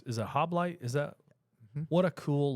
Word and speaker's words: Halbleib: get to talking about Hoblite. Okay. HALBLEIB. okay, that is not at all how I thought you would spell that last name, because what I hear is Hoblite, like HOBLIGHT or something.